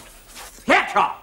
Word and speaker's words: Thatcher: It is pronounced Thatcher. Ah, wait. The tongue between the teeth.